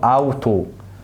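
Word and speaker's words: Auto: قال لك الحرفين دول مع بعض لما بيجوا مع بعض بيدينا تون صوت معين، زي كلمة فغاو فغاو فغاو، او اوتو اوتو اوتو.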